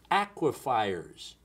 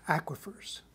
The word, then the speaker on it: aquifers: dictionary to the internet aquafers tell me about aquafers it's actually produced pronounced aquifers aquifers there we are aquifers